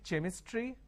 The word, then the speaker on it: chemistry: a word which is c-h-e-m-i-s-t-r-y can i say chemistry no the pronunciation is chemistry now here this is c-h-r-o-m-e